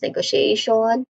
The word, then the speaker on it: negotiation: Pronunciation wise negotiation say short e sound here and then you say go. This part has a secondary stress. Then she she sounds like the letter the word sh e pronounce she. Yeah there's a short e sound here. Then you say negoti a that is a dip thong sound. A that in itself is a dip thong sound. This part has the main stress too.